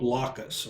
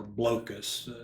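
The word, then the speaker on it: Blokus: My 49 is a game called Blockus or Blocus. I've heard it pronounced.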